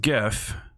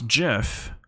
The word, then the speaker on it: GIF: gif and it's pronounced gif not jif because it's not a peanut butter and there's a g in it the next option is